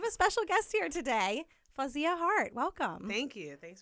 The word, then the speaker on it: Fawziyyah: __ ] up and it's like the actual pronunciation of it is fawzia yeah like my friends my really close friends